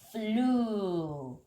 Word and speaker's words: flew: fly도 여기 grew랑 발음이 비슷해요. flew.